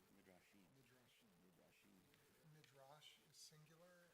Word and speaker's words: Midrashim: And how do you pronounce? Is it Midrashim? Midrashim. Midrashim.